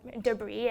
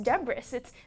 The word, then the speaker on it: debris: the word debris, and my classmate pronounced it debris, and I was like, that's ridiculous, it's debris, don't you see the S?